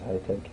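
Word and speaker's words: ETEC: The name is High-Tech. Mm-hmm. And that High-Tech is spelled E-T-E-C.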